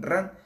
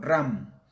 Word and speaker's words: RAN: hecho por ahí coloquialmente sus siglas oficiales son RAN, pero en ocasiones las pronuncian como RAM, con M al final, se refieren en realidad